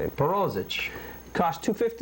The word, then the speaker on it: Perozich: Perozich. That's how you say it. Perozich.